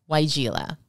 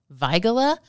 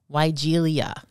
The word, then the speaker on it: weigela: the name of this shrub is pronounced weigela it's named for Christian arenfeld von Weigel a German physician and professor of Botany so technically it should be pronounced vigola but again if you say that in the